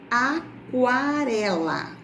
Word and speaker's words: aquarela: Agora percebam. Aquarela. Aquarela. Apareceu o som da letra U. Então, neste caso, QU não é considerado dígrafo.